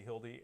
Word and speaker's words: Hilde: and uh so I have is it pronounced Hilda okay Hildy and she is uh part of we recover